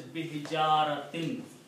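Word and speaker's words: بحجارة: So B is a harfijar. Harfijar changes these two dhammas to kasras. So the word is bihijaratin.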